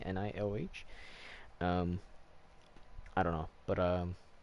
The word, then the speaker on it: Nioh: Nioh, right? Like Neo, but just spelled differently. Nioh.